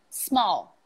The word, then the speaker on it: small: Okay, the word is small. MC, how do you say that word? Small. Not small. Not small. But maybe I add small. A little z there no, that it's not supposed to be there.